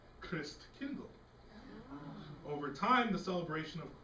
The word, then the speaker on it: Christkindl: In Germany, Christ child is said Christkindl.